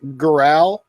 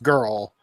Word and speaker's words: Gural: think Rich Gural. Yeah, that's it. But I think Rich his name is like pronounced girl, but it's Rich Girl. Gural.